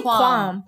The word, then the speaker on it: qualm: Yeah, qualm. But you don't say it like that. It's I say qualm. It is. That's how you say it.